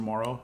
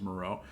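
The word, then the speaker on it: Moreau: if you know this my last name is Maro which is a French last name Mr Morrow H my name is Moro um it's a French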